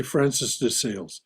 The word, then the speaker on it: Francis de Sales: Francois de Sales, if I'm saying that right. No, you can just say Francis de Sales. Okay, that's the way it's normally pronounced in English.